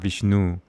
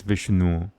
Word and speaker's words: Vishnu: It's not Vishnu, it's Vishnu. It sounds, the proper Sanskrit pronunciation should sound European.